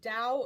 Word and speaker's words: Tao: and its Chinese and Dao is spelled ta o in Chinese Tao means a road